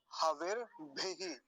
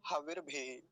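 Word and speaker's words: हविर्भिः: ऐसे लगा दिया, इतना, हविर भी, हविर भी, ऐसे। और भकार पर कैसी मात्रा है, ह्रस्व इकार है, छोटी की मात्रा है, तो लंबा नहीं खींचेंगे, हविर भी, ऐसा हो जाएगा।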